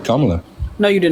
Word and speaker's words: Kamala: bague first of all first of all it's Kamala I don't know why you people cannot pronounce her name right I said Kamala no you did not you said Kamala um so like let's let's continue this right